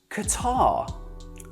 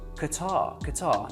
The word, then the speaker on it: Qatar: Qatar, Qatar. Qatar, Qatar. Qatar, Qatar. Qatar, Qatar. Do you want me to do it again? One more. Qatar, Qatar. Okay? Now I'm pronouncing it the Arabic way, but you'll notice that